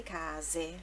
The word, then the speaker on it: case: Aí ela fala: guarda quante case. Guarda quante case. Case, mais uma sílaba no ca, né?